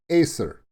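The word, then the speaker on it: Ypres: i i know it's y-s-e-r but it's it's acer that's how it's pronounced so ah got you this time but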